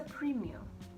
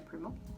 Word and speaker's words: Premio: to address it's a premium not a promo there's an idea that deserves not to be neglected i think premium it's a premium the car is a premium it's not a primo or premo oh yeah there's an